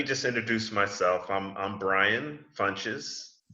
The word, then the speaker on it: Funches: I'm Brian Funches. My name rhymes with lunches, so Brian Funches, so you'll always remember.